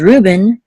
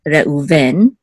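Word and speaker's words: ראובן: So English is Ruben, Hebrew is Reuven, right?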